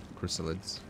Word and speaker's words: Chrysalids: a rustic feast hmm chrysolids ah that's how you say it chrysalids dude i'm getting so